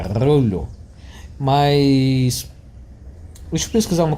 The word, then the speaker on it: Rollo: Os dois L's são pronunciados. Não é como se um fosse mudo. Não é rolo. É rollo.